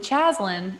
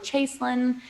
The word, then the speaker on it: Chaislyn: the way um so they came up with chaslain and thank god it's not that cause i'm just not a chaslan um and they ended up like playing with pronunciation came up with chaselin someone threw an eye in the picture i don't know why there's an eye in my name it's just it makes